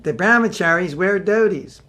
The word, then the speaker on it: dhoti: case you don't understand what a dhoti is dhoti that's the proper pronunciation of dhoti as we say in America Prabhu where's your dhoti where the brown the brown with cherries where Dodie's it's actually the Brahma cherries we're thieves but